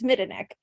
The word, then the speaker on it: Midanik: I've always said Midanik, and that's not right. It's Midanik.